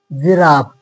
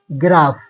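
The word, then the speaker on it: giraffe: जाएगा मैजिक फिर जिराफ जी के बाद आई आया जिराफ ना जी ग्राफ गलत हो जाएगा जिराफ जिराफ फिर वाई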